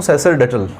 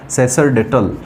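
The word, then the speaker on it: sacerdotal: अब समझना, इसमें सैक्र ना होकर इसका जो प्रोनाउंसिएशन होगा वो सैसर होगा। क्या होगा, सैसरडेटल, सैसरडेटल। सैसरडेटल जो शब्द, इसका जो प्रोनाउंसिएशन है वो क्या है, वो मैंने आपको लिख दिया है।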